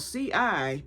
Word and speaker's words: cipollini: So pull up cipollini onion, spelled Cipollini. It's spelled chip, but it's cipollini.